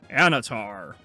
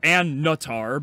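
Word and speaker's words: Annatar: from the flame emerges anatar or anatar because these idiots pronounce the second n all right so we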